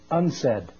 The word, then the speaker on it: UNCED: for environment and development it is pronounced unsaid and perhaps indicating the